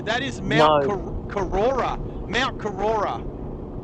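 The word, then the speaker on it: Korora: Mount Kurora, right?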